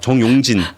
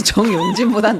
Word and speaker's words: 정용진: 굉장히 많이 하고 죄송한데 발음 좀 조금 정확하게 정용진입니다. 용진으로 좀 부탁드리겠습니다. 정용진. 지금 댓글에서도 다 지금 나랑 헷갈리고 있어요. 우리도 많이 말아먹지만 그래도 정용진보단 낫습니다.